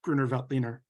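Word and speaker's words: Grüner Veltliner: to some people about grunervelt leaner I'm going to start calling it now that's fantastic and um give it the true Austrian uh pronunciation but um I know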